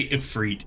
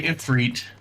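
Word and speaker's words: Ifrit: this room and look I will say infreet since that's how it's officially pronounced because that's how they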